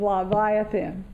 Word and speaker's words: Leviathan: son-in-law has tried to tell me how to pronounce it that's La Vie offend Leviathan he and his and the extraordinary men and